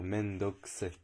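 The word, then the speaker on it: めんどくさい: très mal japonais, mais Mendoxe va s'écrire Mendokuzai et va se dire Mendoxe. On va enlever le U, on va enlever le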